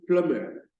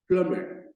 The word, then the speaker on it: plumber: and the e l that letter B is not pronounced the sum for that letter B is silenced so it is pronounced plumber Plummer so the next one